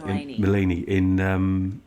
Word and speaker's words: Maleny: if I mispronounce it, was it Maleny or Melanie? Yes, Maleny.